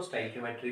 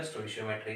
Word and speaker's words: stoichiometry: कई लोग इसको स्टाइकियोमेट्री भी कहते हैं, कई जगह स्टोइशियोमेट्री कहा जाता है। जो आपको कंफर्टेबल लगे आप यूज़ कीजिए, दोनों ही अब शब्द अपने आप में ठीक है, प्रोनाउंसिएशन में कोई दिक्कत नहीं है।